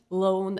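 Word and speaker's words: lón: So the difference between your lunch, loan, and your lion, leon, it's that E that's telling you what kind of an L you should be pronouncing, loan or leon.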